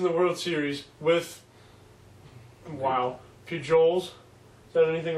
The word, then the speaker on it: Pujols: Tell him how to pronounce it. Pujols. It's Pujols.